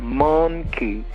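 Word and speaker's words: manqué: Not monkey, but monkey. You pronounce it like you're from the Caribbean. It means, it's M-A-N-Q-U-E.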